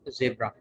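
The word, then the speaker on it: zebra: इसके बाद Z, Z फॉर जेब्रा, इसको ब्रिटिश इंग्लिश में जेब्रा कहा जाता है और अमेरिकन इंग्लिश में जीब्रा पढ़ा जाता है, जीब्रा।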